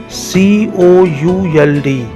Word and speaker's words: could: COULD, यहाँ L silent है, could.